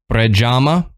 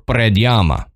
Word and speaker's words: Predjama: told me to do go google search a pronunciation and the the two that were most common was prajama or predama yeah so um we'll probably because of our